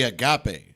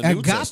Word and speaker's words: agape: Agape, right? Agape is the right way.